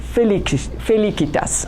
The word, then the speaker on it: felicitas: word to mark happiness, which is felicitas. I pronounce the German style.